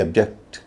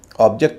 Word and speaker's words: object: ऑब्जेक्ट नहीं होगा, ऑब्जेक्ट होगा। आई ऑब्जेक्ट। ऑब्जेक्शन नहीं होगा, ऑब्जेक्शन होगा। ऑब्जेक्शन सस्टेन्ड या ऑब्जेक्शन ओवररूल्ड। ऑब्जेक्ट क्यों? क्योंकि यह वर्ब है।